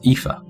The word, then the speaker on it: Aoife: Okay, so That name is pronounced Aoife.